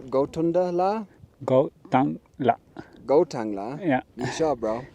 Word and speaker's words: Gotunta: I'm pretty sure you're wrong, bro. I think there's 3 syllables. It is. Let's do a name check with Manav Singh. I am pretty sure, and I am wrong. It is not Gotangla. What's it called? It is Gotunta.